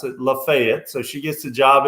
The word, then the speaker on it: Lafayette: oxford is in what most people would call lafayette or lafayette but they pronounce it lafayette so she gets a job at lafayette high